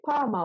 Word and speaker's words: パーマ: And if you want to get a perm, you can say parma をお願いします.